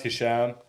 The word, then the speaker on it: Hesham: And you said, "Yeah, I mean, it's pronounced Hisham."